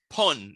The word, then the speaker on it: pun: Pun, like fun. Just change it the f to p. Pun.